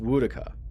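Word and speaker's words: Woedica: So it's pronounced Woodaka.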